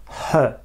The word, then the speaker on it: her: une dame on utilise en prononçant bien le H et toujours sans le r her si on parle d'une